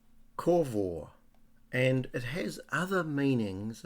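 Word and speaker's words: קָוָה: the Hebrew it's a Hebrew word that is pronounced corvo and it has other meanings apart from patiently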